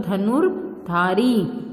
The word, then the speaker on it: धनुर्धारी: र का रूप है ये जिस शब्द पे लगता है उस शब्द से पहले इसका उच्चारण किया जाता है। जैसे धनु फिर ध के ऊपर है तो र पहले बोला जाएगा, मतलब धनुर्धारी। ज के ऊपर है तो ज से पहले अर्जुन।